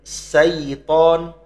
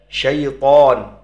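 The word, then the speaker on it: شيطان: ya siton gitu ya jangan saiton ya karena kita membaca huruf arabnya kalau huruf Indonesia ya atau gitu kan Tapi kalau huruf arabnya Sya syaiton ya auzubillahiminasyaitanirrajim kemudian bacaan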